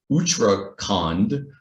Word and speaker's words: Uttarakhand: I'm probably going to pronounce it wrong, Uttarakhand. Did I pronounce that correctly, Dr.